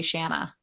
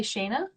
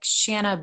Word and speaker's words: Shanna: Like people don't know how to say Shanna. Did they say Shayna? They say Shauna if they mess it Oh, up, usually.